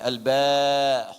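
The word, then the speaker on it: باء: ingin Munculkan aslinya begini kemudian diucapkannya Al ba huruf ba ada hamzahnya ya harful Ba huruf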